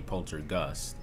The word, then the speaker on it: Poltergust: So this whole time I must have been pronouncing that other word wrong. The other word that has G-U-S-T. So the older word must be poltergust.